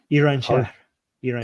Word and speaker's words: Iran: also by the way I forgot to mention Iran is also Jewish oh yeah Jewish Iranians oh oh yeah how do you actually pronounce this Armen Iran Iran okay yeah okay yeah nice so yeah